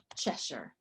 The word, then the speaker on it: Chesshyre: As long as there's not another Cheshire.